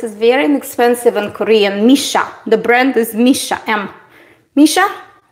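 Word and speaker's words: Missha: Misha.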